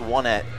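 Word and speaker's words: Onett: guys it is pronounced wet because all the towns in EarthBound are numbers one at two and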